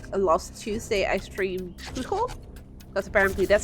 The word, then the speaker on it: Chuchel: I do feel bad about it sometimes because, like, last Tuesday I streamed Chuchel, because apparently that's how you pronounce Chuchel.